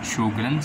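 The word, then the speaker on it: Sjögren's: topic of discussion is sug syndrome as it seems difficult to pronounce it's normal pronunciation is sugan syndrome and ignore my bad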